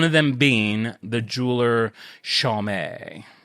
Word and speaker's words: Chaumet: That's why I literally had to write it out SHAW/MAY to make sure that I said it right.